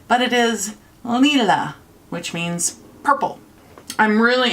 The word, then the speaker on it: Lila: Yes, I know you've probably heard a lot of people pronounce it Lila, but it is Lila, which means purple.